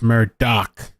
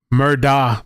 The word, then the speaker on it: Murdaugh: um so oh yeah somebody posted on Twitter by the way it's mer doc why why would I pronounce pronounce Murda Murdock I feel like